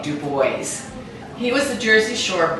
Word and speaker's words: DuBois: by Louis the 14th they disavowed that hugenot Heritage in that duo pronunciation and it became du boys he was a Jersey